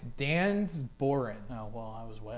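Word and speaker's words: Dengar: Najeget? No. Dang. You have an answer? I do not. All right. It's wrong. It's Dan's Boren.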